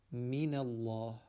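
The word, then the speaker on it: مِنَ اللَّهِ: Again, the origin of the first word is actually min, noon being sakin, but because it is followed by hamzatul wasl, which we do not pronounce, and then a lam which is sakin, that noon, that sakin noon, is gotten rid of by applying a fatha onto it. So it is now pronounced min Allah, min Allah.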